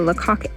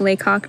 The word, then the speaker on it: Lacock: It's pronounced Lacock, not Lacock.